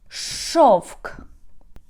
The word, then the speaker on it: шовк: Or for example, шовк, шовк.